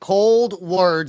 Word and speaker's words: Coldwards: have your new band cold words is how it's pronounced and to me it looks like cold words it's cold w a r DS I don't know how someone could pronounce that differently but when we started